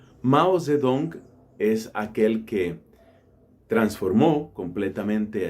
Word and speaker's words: Mao Zedong: nación estamos hablando de mao tse tung o como probablemente se pronuncia un poco mejor mouse de döng mao zhedong es aquel que transformó